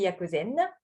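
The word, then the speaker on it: 薬膳: Le premier lettre, ça se prononce Yaku et qui signifie le médicament. Le deuxième caractère qui prononce Zen.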